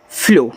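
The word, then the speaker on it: flew: तो यानी कि आधा फ और एल से ल मैंने सिखाया है कि जब किसी के बाद ई डब्ल्यू दिया हो तो ई डब्ल्यू आपका यू बनाता है।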